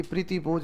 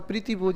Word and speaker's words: प्रीति भोज: अच्छा इसीलिए पूछ रहे हैं, प्रीति भोज ही होता, प्रति भोज नहीं होता।